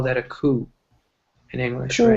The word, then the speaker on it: coup: we call that a coup in English or E so there was a coup yeah there's a P but the P is silent all right so it's a coup just a cool I